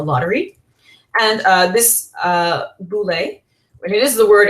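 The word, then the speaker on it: βουλή: and uh this uh boule and it is the word actually for you know the parliamentary body in modern Athens today the it's called the voui in uh modern Greek pronunciation it prepared the business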